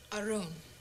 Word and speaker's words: Arun: indio and curry huh my name is arun okay uh arun it's a really nice name thank you oh it's a beautiful name if you can pronounce it well try arun that's it yeah listen i wanted